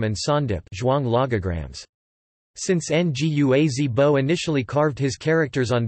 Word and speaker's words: Ngua-ze-bo: From 1924 to 1930, a Lisu farmer called Ngua Zibo, pronounced Ua Zibo, Chinese, Wang Ren Bo Wa Ren Bo, invented the Lisu syllabary from Chinese script, Dongba script, and Geba script.